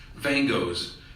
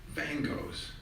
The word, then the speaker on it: Van Gogh: poetry teacher Russ thorburn Van Gogh's Tuesday night in the week of the Buddha's enlightenment snow falls stress the first syllable not like Vincent van Gogh but Van Gogh's snow falls say it